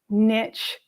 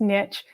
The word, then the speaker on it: niche: anybody else in a niche service area and yes I do pronounce Niche a la American and not Allah snooty Brit Niche but just so you